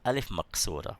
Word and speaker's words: Alif Maqsura: You pronounce it, it's elongated. Okay, and this one is called Alif Maqsura, which is sort of a Maddah also, but it's a smaller elongation.